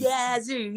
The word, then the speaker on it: Yazoo City: favorite cities to say because it's yazu City yazo you said it right y yzo City Mississippi